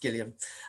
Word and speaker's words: Gillian Flynn: this is gillian flynn i'm not mispronouncing her name and he's pronounced gilliam and this is from